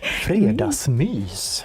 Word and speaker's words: fredagsmys: Fredagsmys. Mys. Fredagsmys. Fredagsmys. Yes, look at the intonation there.